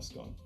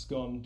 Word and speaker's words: scone: that is not a scone a few things to point out firstly it's pronounced scone not scone secondly they should all